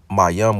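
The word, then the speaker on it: מים: Ma comes from the root word Mayam, pronounced Mayam, which means water or sea.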